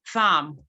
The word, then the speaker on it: thumb: So whenever words end with the combination MB, like the B is usually silent. Thumb, not thumb.